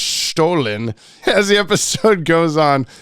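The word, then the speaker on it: Stollen: year sweet sweet stolen bread FYI it's actually pronounced stolen as the episode goes on we realize that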